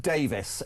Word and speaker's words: Davies: It's actually pronounced Davis. It's very Welsh.